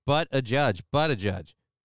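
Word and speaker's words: Buttigieg: uh but a judge is it wrong to say his name is butt a judge this whole Buddha judge thing I don't believe Buddha judge there's no no it's but a judge but a judge it's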